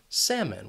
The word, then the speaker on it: salmon: This is a silent L, so you can forget about it, get rid of it when you're saying the word, and you would just ask for salmon.